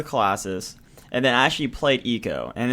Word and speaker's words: Eco: damn game AO or Eco it's it's I thought it was IO as when I was younger but it's eco eco okay yeah okay I